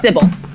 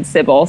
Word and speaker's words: Cibele: It's Cibele, but I don't even know if that's the true pronunciation. Basically, like, I kind of stole that username from a girl I admired in middle school and high school because her AIM username had that in it. And I asked her how she pronounced it, and she said Cibele.